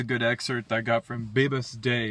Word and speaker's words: Bibhas De: Here's a good excerpt I got from Bibhas Day. His name is spelled Bibhas space DE.